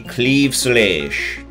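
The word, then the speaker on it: Claimh Solais: in the game be Cleve soonish that's right that's how it's pronounced I looked it up look at those stats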